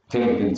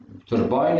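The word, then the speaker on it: turbine: ابويا الاستاذ بيقول لي تيرباين، تيربين صح وتيرباين صح. تيرباين الناس جايين من امريكا بيقولوا تيرباين، بينطقوا الانجليز بينطقوا اوفن، الثاني بيقولوا اوفتن، بيكتبوا بيقروها زي ما مكتوب. انا عشان متعلم في انجلترا فبقول تيرباين، تيربين اللي اتعلموا هناك بيقولوا تيرباين، الكلام صح.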